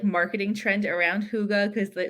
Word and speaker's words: hygge: Okay, so let's talk about that word that I can't pronounce. Hygge.